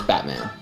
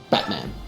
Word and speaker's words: Batman: stop is uh Batman our our general pronunciation is Batman Batman Batman you don't actually say the T it's Batman bat how